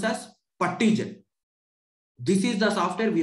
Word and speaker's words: PuTTYgen: PUTTY, PuttyGen. Many people, they call it as Putty. That is completely wrong pronunciation.